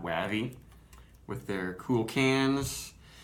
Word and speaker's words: Wavvy: I'm assuming it's pronounced Wavy, not Wavvy, with their cool cans.